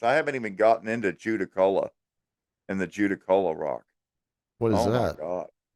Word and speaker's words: Judaculla: Judda. That's a double D. Judda. Shout out Right. Dylan Dorbuck. Judda Culla. Judaculla.